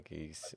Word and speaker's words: geas: I pronounce it geese. I'm so sorry.